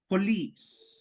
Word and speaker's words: police: Police se pronuncia así. Police. Casi que se confunde con please.